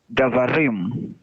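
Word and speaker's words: דברים: Davarim. Very good. And da, Right. there is an open syllable.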